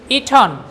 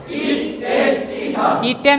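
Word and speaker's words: eaten: ইট খাওয়া, ইট, eight, ইটন। ইটেন বলবেন না, বলেন ইটন। আমি কিন্তু স্ট্যান্ডার্ড প্রনাউন্সিয়েশন করছি, ঠিক আছে?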